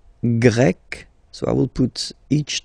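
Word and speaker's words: grec: form GRE feminine form you write them differently but then if you listen carefully gre gre you pronounce them the same way okay Portugal portug portuges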